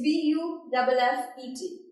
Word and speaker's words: buffet: So correct pronunciation I'm again pronouncing, it's cereal. Okay, next one is something about the party. That's what? It's B-U-F-F-E-T.